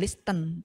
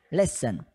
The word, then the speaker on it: listen: Nah, untuk pengucapan listen, bukan listen tapi listen.